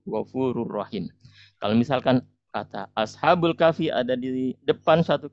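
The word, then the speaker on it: أصحاب: depan kata ashabul kahfi, maka kita membacanya ashabu pakai kata dhammah ya. Bukan ashabi, bukan ashaba, tapi kita baca ashabul kahfi.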